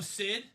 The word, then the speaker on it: Sid: at hard psycho psycho Sid H psycho kid Stephen or SID CID oh I've been saying it wrong psycho kid Toy Story is Sid yeah Sid yeah so